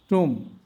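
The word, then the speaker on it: tomb: টম। এখানেও বি এর পরে কোন ভাওয়েল নাই। উচ্চারণ হবে না।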